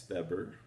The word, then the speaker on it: Weber: what a frenchman already failed another german max beber pronounced the w like of the number um and